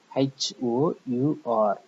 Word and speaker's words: hour: Exception: when the consonant H is silent. Example: HOUR, R, and R. HONOR, honor, and honor, and R, and honor.